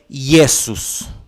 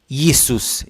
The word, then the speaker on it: Jesus: The word Jesus therefore is read Yesus. Yesus. Yesus.